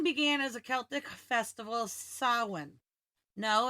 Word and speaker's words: Samhain: Halloween began as a Celtic festival, Samhain. No, it's not pronounced Samhain.